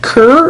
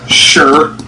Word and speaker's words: Chur: So if it's German, it's Schur. Right. If it's Italian, it's Chur. Right. If it's Romanche, it's Quer. And if it's French, it's Quar.